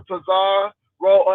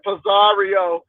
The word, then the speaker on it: Pizarro: Thank you for letting me up de Miss O to um talk to Pizar roll as that lady said Pizario. I'm like where you get all of these extra syllables is Pizarro.